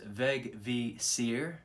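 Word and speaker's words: Vegvísir: the runic compass or vegvizier icelandic veg vizier that which shows the way that's what that means pronounce veg v seer so i was nearly right it's a viking rune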